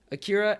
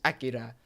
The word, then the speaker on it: Akira: There's two different ways to pronounce it. There's Akira and there's Akira, which is considered to be one of the greatest anime movies of all time.